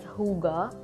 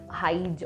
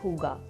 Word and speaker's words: Hygge: It is pronounced as Hygge. I thought it was Hygge or Hygge, but yes, it is Hygge.